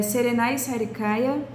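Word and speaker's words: Serenay Sarıkaya: É com a Serenai Sar Sarecaia, eu não sei pronunciar o nome porque tem aquele sem o pinguinho. Eh, serenai Sarikaia.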